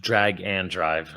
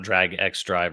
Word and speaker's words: Drag x Drive: press was it's pronounced drag and drive it's not drag X drive or drag Cross Drive it's drag and drive drag and drive I